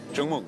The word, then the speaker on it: Chúc mừng: Chúc mừng.